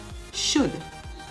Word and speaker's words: should: half h-a-l-f chalk c-h-a-l-k should s-h-o-u-l-t walk w-a-l-k the l in each of these words is silent silent and words autumn